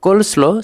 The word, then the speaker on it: coleslaw: অনেকেই কলসলো সালাদকে বলে কসলো সালাদ বাট সঠিক উচ্চারণটা হলো কলসলো সালাদ।